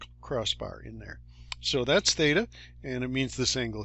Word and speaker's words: theta: And I've given you a little coaching on how to pronounce it here, theta.